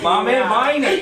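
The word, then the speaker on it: Maame Biney: I am your host, Yoshi Shiraki, and our very special guest is Mom Viney. Did I say it right? Mame Viney.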